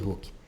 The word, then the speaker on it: Hooke: significa essa lei de hooke isso aqui é o Hulk lá do da Marvel na hora e pronome que o nome tem a pronúncia mas não escrita Idêntica lei de hooke ele